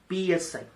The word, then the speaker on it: psi: So this is the symbol for this, and it is written as psi, where p is silent.